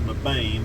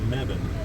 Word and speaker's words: Mebane: And I was saying Mebane, but we were corrected while we were here. It's Mebane.